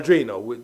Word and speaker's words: Drino: Okay, well, Colin Powell is a Drino, or a Drino, whichever way you want to pronounce it.